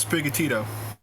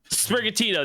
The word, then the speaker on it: Sprigatito: skittles his name Spriggs but he says spigotito sprigatito there we go and as you